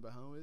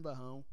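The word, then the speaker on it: Barão: I think I saw it on Wikipedia. It was supposed to be pronounced Baron.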